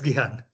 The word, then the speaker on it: Gihan: Is it not pronounced Gihan? Yes, it's Gihan.